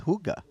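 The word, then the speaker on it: hygge: I don't think actually those those qualify it's Huga apparently the pronunciation so forgive me it's spelled h y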